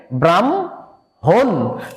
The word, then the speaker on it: ব্রাহ্মণ: এই উচ্চারণটা হচ্ছে হ এবং ম আছে, তার মানে ময়ের উচ্চারণটা হবে হয়ের সামনে, তাহলে এটা কি হবে ব্রাহ্মণ। এই উচ্চারণটা হবে ব্রাহ্মণ, তার মানে হয়ের সামনেই কিন্তু মটা চলে আসলো।